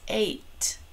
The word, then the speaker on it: eight: with the letter e which normally says e but in this e i g h says a and then we would have the t sound at the end so it'll look like this eight all right what about